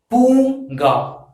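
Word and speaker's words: பூங்கா: You have to pronounce this as Punga, P-O-O-N-G-A, Punga, Punga.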